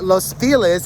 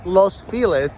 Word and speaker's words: Los Feliz: so this group of homes looks similar uh los feliz is a very lovely part of los angeles hold on and it's called los feliz even though it really should be pronounced los